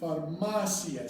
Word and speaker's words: farmacia: up here, carniceria, but farmacia. See farmacia, carniceria. If it has an accent mark, ia. If it doesn't have an accent mark, the stress is on the next to last syllable.